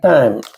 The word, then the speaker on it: thyme: The aforementioned thyme, which I don't know if I'm pronouncing that right or not. I think the H is silent.